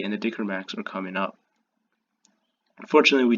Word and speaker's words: Dicker Max: and they could take a little bit of dicker max that's how you pronounce it pushes up I try to hu